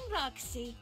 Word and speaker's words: Roxxy: I'm Roxxy. It rhymes with Foxy, so it's easy to remember.